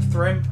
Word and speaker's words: Thrym: Is it Thrym? Thrym, yes. Oh, thank God. At least I know how to pronounce it correctly.